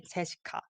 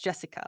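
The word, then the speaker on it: 제시카: it as just simply Jessica that's Jessica we don't have the American accent because we wrote it in Korean way so it's Jessica and it's cold it's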